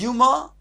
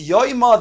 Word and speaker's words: Yoma: It's pronounced Yuma. But indeed it's Yoma, the day, that very day called Yom HaKippurim, which is the is so vague.